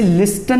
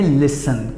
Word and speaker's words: listen: इसे लिस्टन नहीं बोलिएगा, इसे प्रोनाउंस करेंगे लिसन।